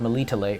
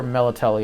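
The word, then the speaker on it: Melitele: can go to the temple of malita lay or melately as the series pronounces it because you know traces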